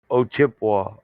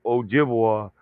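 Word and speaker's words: Ojibwe: American and poish mix but it's old o chipa o chipa but they didn't know know how to say it so they call us chipa or Ojibwa but if you mix the two you're actually saying it right o chipa and then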